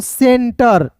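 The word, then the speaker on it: center: सी का स देखिए सी इ एन टी ई आर तो इसे पढ़ेंगे दोस्तों सेंटर टी आर को ट पढ़ेंगे यहां पे टर नहीं पढ़ेंगे सेंटर हो जाएगा क्लियर है फिर देखिए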